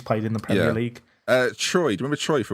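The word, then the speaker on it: Tchoyi: Troy. Do you remember Troy for West Brom? Do you remember? It was spelled with a T. T-C-H-O-Y.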